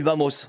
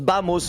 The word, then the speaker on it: Vamos: Ils ont dit Vamos. Oh les bâtards. Et ça se prononce Bamos. Le V ça se prononce comme un B.